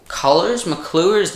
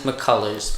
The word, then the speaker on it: McCullers: And McCluers. You people wreck me for pronouncing this guy's name. It's McCluers, all right. I think it's McCluers. Apparently it's McCullers, but we'll go with McCullers.